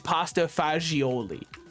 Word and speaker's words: pasta fagioli: I say it cuz I know the correct pronunciation it is pasta fagioli but seeing it on